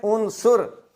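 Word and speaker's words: عنصر: कि उसके अंदर यह आंसर पाया जाता है भाई आंसर नहीं है यह है उन सुर आईन के ऊपर पेश और स्वाद के ऊपर भी पेश और यह जो लज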